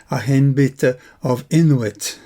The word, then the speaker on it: Ayenbite of Inwyt: In medieval times, the title would have been pronounced something like Agenbite of inwit.